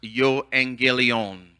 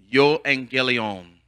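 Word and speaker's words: εὐαγγέλιον: he has risen the gospel in Greek it's pronounced yo Angie Leone yo Angie Leone the this word gospel means good news the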